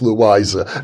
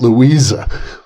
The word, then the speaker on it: Louisa: I believe it is Louisa, not Louisa.